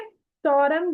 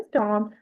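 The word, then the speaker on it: storm: स्टरंग बोलते हैं कोई-कोईको। बट ये सही से प्रोनाउंस किया जाता है स्टम।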